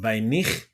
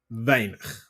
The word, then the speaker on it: weinig: The IG in the end, you can pronounce the I as a E. Right? In this word. So, not weinig, but weinig. Okay, E.